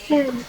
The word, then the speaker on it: France: how to pronounce it? 71% 71% রোগী France. Omicron No, আক্রান্ত, no, not France.